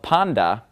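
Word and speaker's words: πάντα: on the end of Panda and of course I'm pronouncing it panda because the top whenever it comes after me it makes that D sound okay Tov usually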